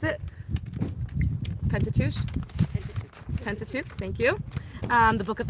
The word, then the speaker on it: Pentateuch: How do you pronounce it? Pentateuch? Pentateuch, thank you.